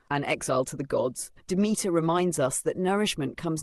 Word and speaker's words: Demeter: Demeter, pronounced Demeter, is more than a harvest goddess.